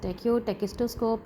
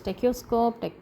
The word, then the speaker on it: tachistoscope: And after that, this tachistoscope has different pronunciations. Some mention or some pronounce as tachoscope, some pronounce as tachistoscope, some tachistoscope. So it's the way you can check, and the one you find easy to pronounce, you can go ahead with that.